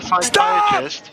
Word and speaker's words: psychiatrist: Why can't you hear a psychiatrist using the bathroom? Say again. Why can't you hear a psychiatrist using the bathroom? Why is that? Because the P is silent.